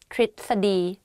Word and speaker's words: ทฤษฎี: So the correct way of pronouncing this is "tisadi."